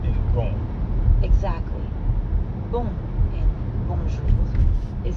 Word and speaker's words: bonjour: Notice how the J in bonjour sounds a lot like the middle of the English word measure.